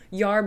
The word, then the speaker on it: herb: to be herb tea yard is actually one of the old pronunciations of herb which would refer to